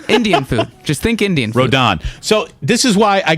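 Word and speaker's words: Rodón: believe that's correct okay nonetheless it's pronounced rodon rodon or if you prefer think of the hilltop usf rodon go dons rodon i i got it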